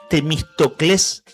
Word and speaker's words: Temístocles: Y este hombre, Carlos Temístocles Cortés, ¿sabés que tiene acento en la última sílaba? Un nombre medio griego. Temístocles.